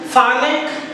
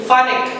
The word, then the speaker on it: Phanek: Underline Phanek and Inafi. Pronounce it properly with me. Phanek, P-H-A-N-E-K.